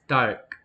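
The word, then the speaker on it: 닭: For example, chicken is dark, and it sounds more like dark, but there is a a real in it.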